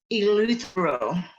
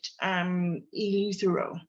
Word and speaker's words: Eleuthero: Eleuthero, okay? So I'm going to try to, thank you, I appreciate your contribution there. I'm going to try to say it correctly each time, but Eleuthero, okay?